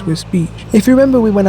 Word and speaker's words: Wisbech: Now of course it doesn't have the a but it still pronounces whis beach.